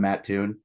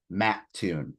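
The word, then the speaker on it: Mattoon: tell people I'm from matune they're like matun I'm like no you gotta say it right it's Matt Tune Illinois so uh I got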